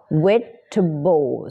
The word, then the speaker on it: vegetable: เวลา ผัก เนาะ ผัก ออก เสียง เป็น Vegetable นะ ไม่ มี คำ ว่า เ นะ Vegetable 3 พยางค นะ ผัก แต่ ว่า